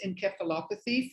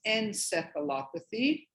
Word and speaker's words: encephalopathy: Dialysis, and I'm going to pronounce it the Greek way, dialysis encephalopathy for those of you in Europe and England, but in America, dialysis encephalopathy.